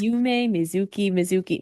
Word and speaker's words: Yumemizuki Mizuki: Yume Mizuki.